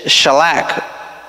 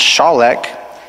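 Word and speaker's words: שָׁלַךְ: When it says through there, it is shalak, or pronounced shalek.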